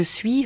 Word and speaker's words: suis: In je suis hören Sie vor dem I nicht ein deutliches Ü, sondern einen kurzen Übergangslaut. Oui. Eine Art Halbvokal. Sprechen Sie jetzt mit. Je suis enchanté.